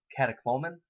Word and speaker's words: catecholamine: Increased levels of urinary catecholamine.